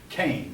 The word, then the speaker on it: Keynes: that move for me that word looks like it should be spelled keynes and i used to mispronounce him then I heard Frederick's Kane says in CA I